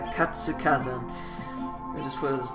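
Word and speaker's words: 活火山: Katsukazan.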